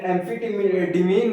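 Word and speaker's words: amphetamine: तो इसको एम्फीटीमीन को क्या बोलते हैं? हम सुपर ड्रग भी बोलते हैं। मैं प्रोनाउंसिएट भले थोड़ा अजीब से कर रहा हूं,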